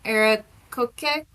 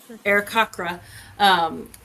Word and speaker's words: Aarakocra: Arakoke? Aarakocra? Aarakocra, and light him up with this fairy fire, and then gasp out, "It's a sign from Nang Nang!